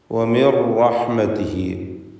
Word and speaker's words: وَمِنْ رَحْمَتِهِ: വമിർ റഹ്മതിഹി, അപ്പോൾ റാഇൻ്റെ ശബ്ദം മാത്രമാണ് ഉച്ചാരണത്തിൽ ഉണ്ടാവുക.